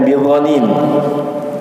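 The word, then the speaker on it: بضنين: yang membaca dengan Z ada yang membaca dengan D ya kalau di sini memang al-qur'an menulisnya dengan do ada yang baca dengan Z juga ya Jadi dibacanya bidonin ya kalau dononin artinya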